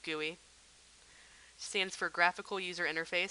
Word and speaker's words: GUI: called a gooey window it's spelled GUI but it is pronounced gooey stands for graphical user